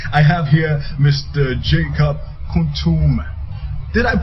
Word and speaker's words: Kuutuome: Jacob Kuutuome. Did I pronounce that well? Well, that's it. It's Kuutuome. Kuutuome.